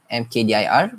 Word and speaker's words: mkdir: In this case, we are going to use the command mkdir, which is also can be pronounced as make directory.